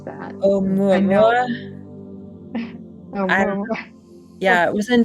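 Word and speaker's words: ʻOumuamua: How do you pronounce that? Oumuamua?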